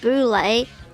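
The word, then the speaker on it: Boulé: buly an acronym for Sigma F fi and pronounced Boule was per was formed to bring together a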